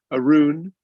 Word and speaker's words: Arun: pronunciation of his name arun plays bassoon is both a true fact and how to pronounce my name so there you go